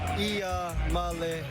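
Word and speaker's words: Iamaleava: The correct way to pronounce my last name is Ia Malo.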